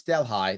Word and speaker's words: Delhi: It's Delhi. That's how it's pronounced in New York State.